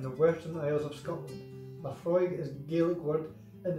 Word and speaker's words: Laphroaig: Laphroaig, pronounced Laphroaig, is a all malt Scotch whiskey from the remote islands of Islay in the Western Isles of Scotland. Laphroaig is a Gaelic word and it means the